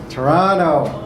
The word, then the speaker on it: Toronto: of this fair city Toronto rhymes like piranhas so if you end